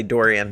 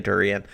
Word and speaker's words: Dorean: Yeah, I usually say Dorian, but a lot of people say Dorean. Neither of those is exactly how you'd pronounce it if you were in a Greek class, but...